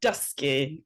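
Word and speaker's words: dysgu: It's like dusky. So, almost like when the sun goes down, dusk, like dusky, right?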